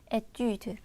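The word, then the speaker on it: étude: 숫자 글 의미 하고요 복수가 되면요 발음은 같죠 에뛰드 학업 을 의미합니다 우리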